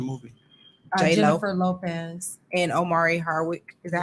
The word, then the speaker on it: Omari: And Omari Hardwick. Is that how you pronounce his name? Mhm. Amari.